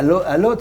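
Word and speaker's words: Łódź: des grandes marques de couture, à Varsovie, à Lodz, c'est comme ça qu'on prononce. Lodz, oui, ouais, donc ça.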